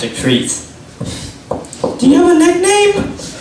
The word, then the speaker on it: Jakrit: k r i t it looks like crit but it's pronounced a creit do you have a